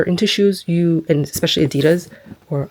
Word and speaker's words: Adidas: shoes, you and especially Adidas or Adidas, I think that's how you're supposed to pronounce it. I think the founder's name was like Adolf or Adolf and his nickname was Adi. So, Adidas. But anyway, like I'll just